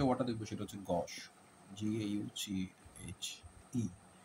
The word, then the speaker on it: gauche: এখন যে ওয়ার্ডটা দেখবো সেটা হচ্ছে গশ, GAUCHE। এর উচ্চারণটা হচ্ছে গশের মতো করে হবে। এটা ফ্রেঞ্চ ওয়ার্ড যার বাংলা অর্থ হচ্ছে অমার্জিত, আনরিফাইন্ড, তারপরে ইমপোলাইট, আনসিভিল, বেয়ারা বা কদাকার, ক্রুড, অকওয়ার্ড, ক্লামজি।